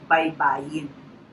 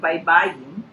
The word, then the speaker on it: baybayin: And our system of writing, which is in syllables, is called baybayin.